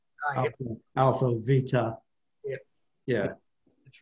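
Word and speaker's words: βήτα: And so what I could probably help you out a little bit there, Danny, because in Greek, what we pronounce as B is actually pronounced V. Yep. Alpha, Vita.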